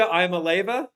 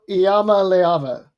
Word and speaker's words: Iamaleava: Nussmeier for LSU, and, God help me, Nika Iamaleava from Tennessee. No. What is it, Ian? How do you pronounce it? I got the guide up. Nico Iamaleava.